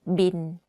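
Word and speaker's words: บิล: this word that's why we use the English word bill but the pronunciation of course is different we call it bin like bin bin but if you want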